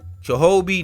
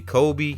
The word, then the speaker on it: Chobe: Chobe National Park. I might not pronounce that right. Let me see. Kobe National Park. It's CHOBE National Park.